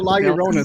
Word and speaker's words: La Llorona: Using the bathroom, like hearing y'all mispronounce La Llorona so bad. I think It's called a La Llorona.